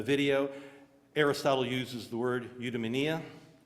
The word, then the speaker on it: eudaimonia: As we learned from the video, Aristotle uses the word eudaimonia, or eudaimonia, the British pronunciation's a little different, which means human flourishing,